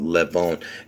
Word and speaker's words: Levon: Anyway, the reason I'm calling it, see, I would pronounce this Levon, Levon, Levon, because I'll tell you why. Because see, Levon, the meaning of the name means lion, and where does it originate from? From Armenian.